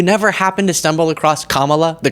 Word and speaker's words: Kamala: There's only so many syllables. You never happen to stumble across Kamala, the correct one?